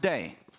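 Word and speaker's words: δεῖ: there now this word in the Greek is pronounced day it means simply that it was necessary it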